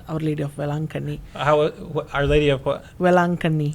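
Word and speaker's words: Velankanni: In the same way, in India, we have a popular shrine called Our Lady of Velankani.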